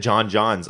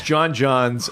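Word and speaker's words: J'onn J'onzz: it the first time so his Martian name is like J ' oh N and J oh it's like J ' onn said he's John John's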